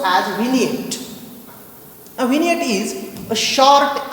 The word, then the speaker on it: vignette: It is pronounced as vignette.